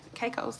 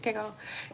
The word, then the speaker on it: Caicos: Yeah, Caicos, that's how you say it. Caicos.